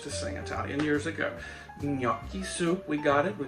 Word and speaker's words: gnocchi: make chicken gnocchi soup it's no key in my world but my italian friend sandy is very quick to tell me my pronunciation is wrong and i know i